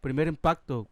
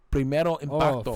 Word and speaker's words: Primer impacto: Primer impacto. Primero, what? Impacto. primero impacto.